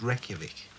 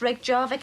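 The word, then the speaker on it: Reykjavík: the capital of iceland reykjavik nearly that's right rake jarvik reykjavik it's pronounced reykjavik well reykjavik in english reg jarvik and icelandic right reykjavik marie it's pronounced reykjavik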